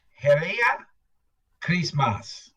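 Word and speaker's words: Heri ya Krismasi: wow cool Kenya Africa Christmas is pronounced Hera Christmas MH that's h e r i y a Chris MOS spelled a little differently yeah Santa Claus arrives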